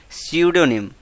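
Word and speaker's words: pseudonym: क्या बोलते हैं उसको? सडोनिम। यहां पे पी साइलेंट रहता है।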